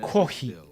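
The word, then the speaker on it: コーヒー: And same thing, like coffee, for example, would be kohi. So they don't say coffee. It's kohi.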